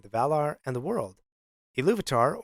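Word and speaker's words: Ilúvatar: Valor and the world iluvatar or to pronounce it another way elu atar meaning father of all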